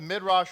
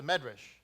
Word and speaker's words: Midrash: We're going to open up the Midrash Rabbah. Or, depending if you come from the Ashkenazi sect, it's the Medrash.